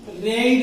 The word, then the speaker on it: read: उसके बाद लगानी है थर्ड फॉर्म, तो रीड की थर्ड फॉर्म रेड होती है, लेकिन उसका प्रोनाउंसिएशन जो होता है वो रेड होता है।